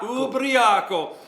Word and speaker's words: Ubriaco: Ubriaco.